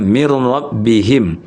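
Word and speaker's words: مِن رَّبِّهِم: Makanya bunyi mini, min itu bunyi nun sukunnya digabung, diidghamkan ya, digabungkan dengan ro min ro atau mirro ya mirro makanya mirrabihim tulisannya min rabbihim tapi dibaca bukan min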